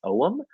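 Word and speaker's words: Oehm: Zach, I think his last name is pronounced Oem, O-E-H-M.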